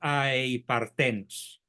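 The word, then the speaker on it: ἀειπάρθενος: partenos, o aei partenos, aunque es más eufónico aei partenos, con acento en la e.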